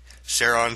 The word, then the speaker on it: Charon: kerbal landed on pluto's large mood carron and yes it is actually able to be pronounced that way sharon caron you can do both anyway it was meant